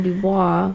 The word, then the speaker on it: Dubois: You don't pronounce the S in Dubois.